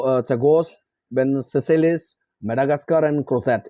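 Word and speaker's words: Crozet: सुंडा, सुकुट्रा, चगोस, बेन सेसेलिस, Madagascar and क्रोसेट। ये हो गया, क्रोजे भी बोलते हैं, ठीक है, साइलेंट है, क्रोसेट है।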